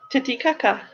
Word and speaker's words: Titicaca: It is spelt Titicaca. I'm telling you, it's called Titicaca. Titicaca.